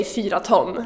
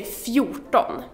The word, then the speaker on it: fjorton: And you don't say fyra ton, like I just mentioned. You say fjorton.